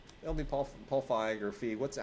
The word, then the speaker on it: Feig: It'll be Paul Feig or Feig. How do you pronounce it? It's Feig.